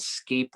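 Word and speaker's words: Sceilp: it was actually called scape level uh it was really interesting area that was uh spelled s-c-e-i-l-p um the reason why it's pronounced differently is because it's an irish word that that's a very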